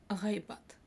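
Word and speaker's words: ғайбат: Следующее слово гайбат. Гайбат.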